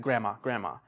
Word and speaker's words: grandma: Like native speakers, you don't really say the D, you just say like grandma.